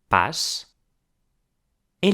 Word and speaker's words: passan: And finally "eles or elas PASSAN" with an A that is pronounced like an O.